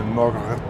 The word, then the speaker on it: mogrt: And so they were asking, so what is a mogurt? What's a mogurt? Mogurt, like a yogurt. Yeah, it rhymes with yogurt.